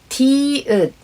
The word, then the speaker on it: 디귿: 으 as a final consonant for the second syllable, it becomes its name. 디귿 must have been its name.